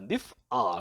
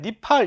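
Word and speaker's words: נִפְעַל: 그래서 그 3ms 기본 형태인 사실은 우리가 니팔이라고 이름을 붙이지만 정확한 발음은 니프알입니다. 니프알. 근데 아인을 이제 발음을 안 하니까 그러니까 현대 히브리어에서 아인을 무궁화 처리하니까 니프알이 아니라 그냥 니팔 이렇게 돼버렸어요.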